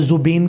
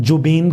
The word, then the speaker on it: Zubeen: जी, ऐसा है कि जुबीन गार्ग, जिसको के जी के साथ ZUBEEN, हम यहाँ पे जुबीन कहते हैं, तो लेकिन जो प्रोनाउंसिएशन है असामीज़ लैंग्वेज में, तो उसमें कहते हैं जुबीन गार्ग।